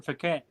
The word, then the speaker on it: Phuket: Sam's saying hi from Phuket. Okay. You Hi, pronounced that.